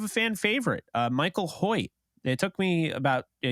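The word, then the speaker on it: Hoecht: little bit of a fan favorite uh Michael Hoyt it took me about a year to figure out that's actually how you say his name and not hawked or hoiked or whatever um erect yeah but uh yeah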